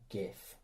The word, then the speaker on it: GIF: Is it pronounced GIF or GIF? It's clearly GIF.